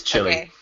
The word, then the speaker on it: Chile: it charged illy chili honestly I've heard it pronounced both ok then the first one is wrong it's chilly ok that's pronounced made the